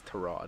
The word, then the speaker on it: Tyrod: Say his name right. God damn it. It's Tyrod.